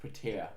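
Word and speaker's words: Petr: I think it's pronounced Petir. Petir? Petir. Yeah. I'm just gonna say Peter. Because it's Russian.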